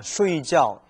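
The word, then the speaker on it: 睡觉: 쉬이지아오. 이 각자가요, 지아오인데 잠잘 때는 쉬이지아오라고 읽어주는데 또 다른 표현, 쥐에더, 느끼다, 생각할 때는 발음이 지아오가 아니고 쥐에라고 읽어집니다.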